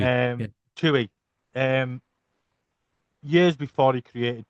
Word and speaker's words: Twohy: Tui. Yeah. Twohy.